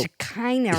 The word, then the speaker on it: Shekinah: So Shekinah reminds me of my vagina. Okay, it rhymes with it.